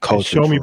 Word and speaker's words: Xiaomi: Xiaomi, but it has an X. It's spelled with an X. Yeah. XIAOMI.